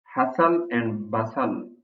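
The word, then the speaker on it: hustle and bustle: हसल एंड बसल, रौनक या चहल पहल. इसमें जो टी है ये साइलेंट है. सो it's called हसल एंड बसल, Raunak.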